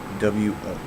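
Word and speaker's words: 我: So wo is W-O, and if you say it correctly, you can really hear the tone. So it'll be wo. So, and I just signed the tone. So it is the second tone mark, or at least on this sheet is. So it goes down, wo, and back up.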